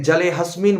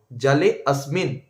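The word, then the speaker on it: জলেঽস্মিন্: জালে অসমিন সান্নিধিম করুম এখানে জালে অসমিন অনেকেই ভুলভাল মন্ত্র উচ্চারণ করেন এই জায়গাতে কি উচ্চারণ করেন এখানে জালে হাসমিন বলে দেন ওখানে হয় লুপ্ত আছে জালে আসমিন সান্নিধি করুক এটা হচ্ছে শুদ্ধ উচ্চারণ এবার সে আবার কি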